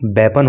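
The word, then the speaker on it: weapon: देखो ये तो आप जानते ही होंगे, लेकिन कई लोग इसके प्रोनाउंसिएशन में गड़बड़ कर देते हैं, इसको बीपन बोल देते हैं। तो अगर आप भी बीपन बोलते हो तो बीपन मत बोलना, इसका शुद्ध प्रोनाउंसिएशन जो होता है वो वेपन होता है।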